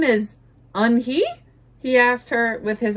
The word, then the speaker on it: Unhei: Your name is unhe? He asked her with his eyes open wide. Yunhai looked quickly at Mr. Kim, then turned to Joey. She nodded slowly. Yes, it's pronounced Yunhai, and it means grace, Mr.